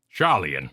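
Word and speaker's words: Sharlayan: Char Charan charlen yes my trick is you say it like Charlemagne said by Sean conry on the beach after he chases Birds Charan this vexes me in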